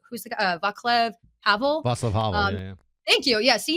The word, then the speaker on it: Václav Havel: Václav Havel. Yeah. Thank you. Yeah, see you know. That's good. You can pronounce his name better than me.